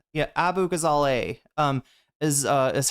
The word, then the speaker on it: Abughazaleh: know some positions that Cat Abazala uh sorry I'm mispronouncing her name. I actually know everybody everybody up her name. I her up her name the first time or I like fumbled it right. Abu Gazale. Sorry that's how you pronounce it.